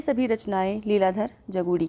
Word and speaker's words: जगूड़ी: अगला प्रश्न है निम्नलिखित में से कौन सी रचना लीलाधर जगूड़ी की नहीं है? जगूड़त्री यहाँ पर लिखा है, इसको इस तरह से उच्चारण करिएगा, जगूड़ी।